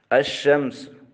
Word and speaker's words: الشمس: رسم الخط کے طور پر لکھا جائے گا مگر تلفظ سے لام ساکت ہو جائے گا، یعنی مدغم ہو جائے گا۔ الشمس، اب یہاں لکھا گیا ہے لیکن پڑھا نہیں گیا، بلکہ یہ لام شین